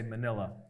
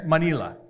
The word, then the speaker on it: Manila: how they say it usually in American English we just say Manila like the folder but uh when you're there it's manila manila uh but uh so